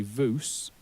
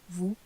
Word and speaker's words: vous: And we don't say vous, we say vous.